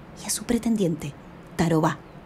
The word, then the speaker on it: Tarobá: naipe ya su pretendiente tarobá quizás les llame la atención que todos estos nombres llevan la última sílaba acentuada es que son de origen guaraní una lengua que se